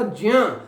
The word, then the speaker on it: ज्ञ: संस्कृत में वास्तव में इसका जो शुद्ध उच्चारण है वो ज्ञ नहीं बल्कि ज्य होता है, ज्य होता है, ना कि ज्ञ।